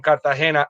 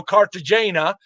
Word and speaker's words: Cartagena: So I'm not going to go Cartagena. Right. That's not how you say it. It's called Cartagena.